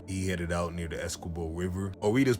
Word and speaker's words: Essequibo: So before sunrise one morning, he headed out near the Essequibo River, or we just pronounce it Essequibo.